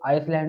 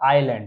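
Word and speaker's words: island: हम आइलैंड तो बहुत बहुत से लोग आइसलैंड भी पढ़ते हैं इसका मतलब क्या होता है आइलैंड तो यहां पर आई और एल के बीच में क्या है एस एस हमेशा यहां पर साइलेंट होगा तो आइलैंड का मतलब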